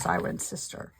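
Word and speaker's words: Cirencester: felting in Siren sister it's spelled siren CH siren ker but it said pronounced siren sister this is where I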